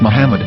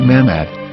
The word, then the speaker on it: Muhammad: say Hebrew English dictionary it is correctly pronounced as Muhammad not mammad so how we're going